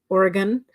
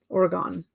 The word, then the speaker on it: Oregon: uh Amanda says LOL people say Oregon wrong as well they always say oh okay so uh Gone versus gun Oregon Oregon hmm you would think